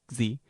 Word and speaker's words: Xi: Xi has the force of KS.